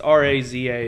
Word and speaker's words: Raza: about the pronunciation yeah it's because it's r-a-z-a it's raza whatever uh but he's wearing